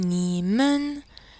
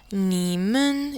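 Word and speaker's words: 你们: pour un groupe de personnes ou plusieurs personnes nimen nimen est prononcé comme ceci nimen nin ni ni nin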